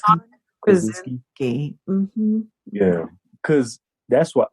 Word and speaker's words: Krasinski: John Krasinski.